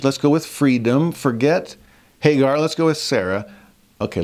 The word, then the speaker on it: Hagar: For these are the two covenants, the one from the Mount Sinai, which gendereth to bondage, which is Agar, or Hagar as we would pronounce it.